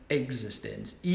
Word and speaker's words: Existenz: And you pronounce it that way because it's spelled differently. Existenz.